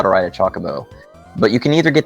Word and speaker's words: Chocobo: bow I know it's a lot of people say Jacobo it's not there I have never heard anybody pacheco it's always choco bow or chocobo I say chocobo I've always had check